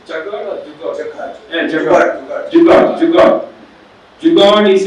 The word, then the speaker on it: jugaad: how to pronounce Jugaad or Jugaad?